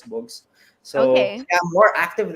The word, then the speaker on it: Bugs: underscore books underscore books so it's spelled as bugs but um pronounced as books so okay i'm more